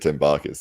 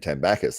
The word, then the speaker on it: Tambakis: I've always said Tambakis, and then I heard Jake Ward saying Tambakis, and I was like, am I saying it wrong? Nah, they're both correct.